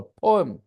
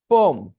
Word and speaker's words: poem: हल्का सा चेंज और करना है, बोलो पोएम, बस खाली पो पे खाली जोर डाल दीजिए और एम पे जोर मत डालिए। पोम, ओके, हाँ, लगेगा पोम बोल रहे हैं, राइट।